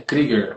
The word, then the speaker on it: Krieger: Márcia Kruger, acho que o sobrenome dela se pronuncia assim. É Krieger, aprendi esses dias.